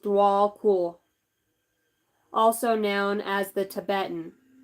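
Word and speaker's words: Djwhal Khul: make choices from the heart okay it is pronounced dwall cool also known as the Tibetan in the Tibetan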